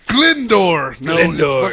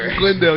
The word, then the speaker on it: Glendale: of Glendale a hobit which he pronounced on his when they asked him where he was from he said glendor Glendale you